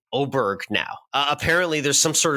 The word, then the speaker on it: Åberg: need to be saying oberg now apparently there's some sort of Scandinavian pronounce Nation I think it's oberg now I don't love this because it's spelled aberer but I think he's